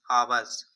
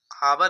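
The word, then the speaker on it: hour: And talked to each other daily for आवर्स, यहाँ पर आवर देखो, यहाँ पर नहीं पढ़ेंगे, यहाँ पर आवर पढ़ते हैं इसे, ये साइलेंट इसमें होता है हमारा, तो इसे क्या पढ़ते हैं?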